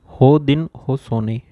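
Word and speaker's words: Haudenosaunee: term होती है उसका टम जिसको बोलते हैं हो दिन हो सोने ठीक है जिसकी स्पेलिंग होती है एच ए यू ओ दिन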